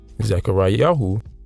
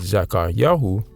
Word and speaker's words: Zakaryahu: the ancient Zechariah is the anglicized transliteration of zachari yahu which is the modern Hebrew but zachar yahu is the ancient and lastly Obadiah which is